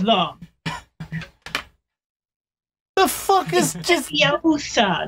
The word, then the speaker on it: Leviosa: Leviosa, not Leviosa. Flick and swish!